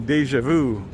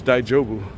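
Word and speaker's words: daijōbu: understand they're saying that he's saying Deja Vu like French deja vu but it's daijobu yeah it's cold out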